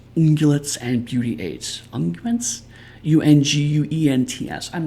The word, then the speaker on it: unguent: Unguents. I'm not familiar with that word. And beauty aids. One moment. I'm going to look that one up. Is a unguent, apparently that's how it's pronounced, is a salve for soothing or healing.